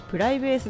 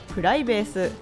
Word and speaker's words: PRiVACE: 座席指定サービスですプライベースはプライベートとプレースを掛け合わせたネーミングそのためイントネーションはプライベースではなくプライベースコンセプトは日常の